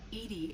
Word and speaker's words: EDI: airlock is a jar edie is the phonetic pronunciation of edi that is an acronym for enhanced defense intelligence my core intelligence is